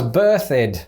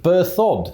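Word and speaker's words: Berthoud: pronounce bertao bertude as birthed but it should be pronounced bur thud so that it rhymes with dud well now we know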